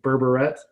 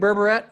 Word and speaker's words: Berberet: Is it really Berberette? How the hell do you say it? It's Berberet. So it's got a French ending to it, Berberet.